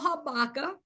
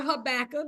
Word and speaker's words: Habakkuk: Our annual conference this year is when believers pray, vision is revealed, supported by the scripture of Habakkuk or Habakkuk, depending on how you pronounce it, chapter 2, verses 2 and 3.